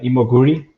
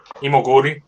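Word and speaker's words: Imoguiri: are basque yeah so i think the right pronunciation is um uh imoguri yeah that is the u is there but the you can ignore the i yeah emogori okay oh yeah so her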